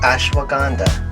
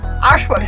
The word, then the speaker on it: Ashwagandha: How do you pronounce those words? The calming blend of L-theanine. L-theanine. Chamomile. I know chamomile. Ashwagandha. Ashwagandha.